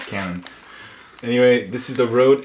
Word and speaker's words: Canon: 70 Canyon remember guys you're supposed to pronounce it the cool way Canyon not Cannon anyway this is the